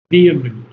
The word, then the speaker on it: vehement: Vment vehment. Vment vement. Vment. Yes. The h is not h is silent.